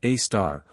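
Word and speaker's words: Sagittarius A*: The Milky Ways black hole called Sagittarius A asterisk, pronounced a star, weighs about 4 million times the mass of our sun.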